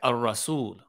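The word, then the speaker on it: الرسول: While a shadda on the letter after the lamb indicates a sun letter, like Ar-Rasul, Ar-Rasulu.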